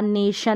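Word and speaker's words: nation: कि शी अब टी आई है तो इसका उच्चारण भी श रहेगा नेशन में है तो टीआई को भी हम श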